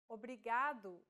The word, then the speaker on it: obrigado: here in lesson two don't pronounce it like in English R don't roll your tongue listen to how Anna is pronouncing this sound the think of the quick tapping motion your tongue makes as it strikes the top gum Ridge in words like ladder or butter y altogether it's Obrigado obrigada okay one last